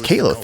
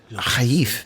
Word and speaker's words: Caliph: Because everyone says Caliph in the United States, in English, but Khalif makes a good deal of sense.